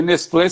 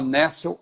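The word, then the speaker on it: Nestle: Westcott, tracinho, Hort, e Nessel, se escreve Nestlé, né? Não estou falando Nestlé porque alguém vai pensar que é chocolate. Né? Porque Nestlé seria no francês, né? Mas o pessoal fala Nessel Aland, né?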